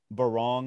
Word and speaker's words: Barong: Just to wrap up, you know, the bookends of the essay, the first one is Barong. Am I pronouncing that correctly?